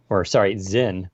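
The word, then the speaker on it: Sinn: I am thinking about going all in on a Zin 144. It's spelled with an S, but it's German, so it's pronounced with a Z. Zin 144, but we'll see.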